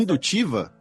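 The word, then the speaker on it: Hindutva: um Estado baseado numa como é que a pronúncia religiosa. é indutiva?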